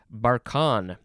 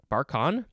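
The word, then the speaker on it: barchan: this is from barcelona spain next we have barcon b-a-r-c-h-a-n it is a noun from 1888 a moving crescent-shaped sand dune that's called a barcon uh this is russian or from the russian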